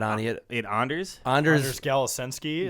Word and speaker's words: Galasinski: Anders Galasinski. Galasinski. that how his name is Yeah, pronounced?